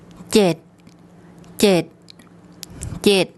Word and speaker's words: เจ็ด: Regarding the tone rules, this is a mid-class initial consonant. Because it ends with a T sound, it's a dead syllable, and this is a short vowel, so it makes a low tone.